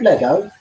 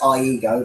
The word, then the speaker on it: Iego: Planet called Lego? Oh, that's interesting. So that's what it says on here, Planet Lego, or Iego. It's pronounced Iego, but Lego. I'm joking. You pronounce it Planet Iego.